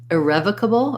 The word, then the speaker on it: irrevocable: And then for irrevocable, irrevocable, it's a schwa because in irrevocable, we have stress on the rev syllable. So it sounds like I, rev, cable. Irrevocable.